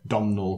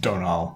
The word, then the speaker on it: Domhnall: It says same as I'll just say it how I would have said it, Domhnall Gleeson. But from context, I'm assuming that is also pronounced Donal Gleeson.